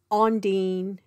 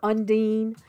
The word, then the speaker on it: undine: you remember your mythology salacia is ondine if your magical practitioner or undine depending on the way that your trad pronounces it or what muggles call